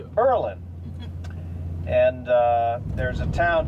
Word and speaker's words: Berlin: of Berlin New Hampshire we don't call it Berlin we call it purlin and uh there's a